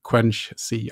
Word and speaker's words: Quenchsea: about your company and also the the product quench C I hope I pronounced that right yes that's correct yeah Quincy